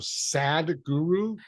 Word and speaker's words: Sadhguru: But interesting, he calls himself Sadhguru, but he teaches happiness. It's not SAD like how we would think, but that's how he says it.